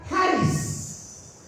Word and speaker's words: charis: nosotros sí la palabra haris haris se escribe charis Sí pero se pronuncia haris sí que significa charis